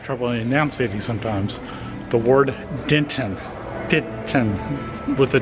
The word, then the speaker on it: Denton: Michael that's normal that's the Texas accent you have that soft tea almost an N for the tea for Denton Texas and speaking of Texas